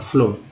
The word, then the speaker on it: floor: और FLOOR, फ्लोर, में double O का उच्चारण ओ के रूप में हो रहा है, फ्लोर।